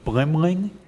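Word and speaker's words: Blimling: done by and I'm gonna script a pronunciation blim Ling be li mi Li ng and they the three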